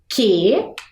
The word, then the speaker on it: querosene: Na hora que eu fiz a pronúncia, eu escutei a presença da vogal U ou não? Não, não é mesmo? Então é um dígrafo, porque afinal, duas letrinhas que se juntaram formando apenas um som.